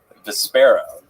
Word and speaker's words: Vespera: Vespera. Vesper with an A at the end. Wow, Vesper. Vespera. Everything with me is Vespera.